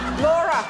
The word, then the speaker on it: Laura: Laura rhymes with Bora and Snorer.